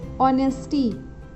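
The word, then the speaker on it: honest: Honourable, ऑनेस्ट, ऑनेस्टी, ये जो words हैं इनका फर्स्ट लेटर एच है।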